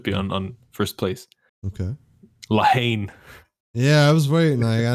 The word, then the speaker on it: La Haine: So I mean, actually, you pronounce it La Haine, but no, we say La Haine here. So yeah, it sounds more like the hate.